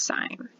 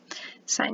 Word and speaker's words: sine: sine of a okay even though it's written sin you guys it's pronounced sine sine and cosine okay cosine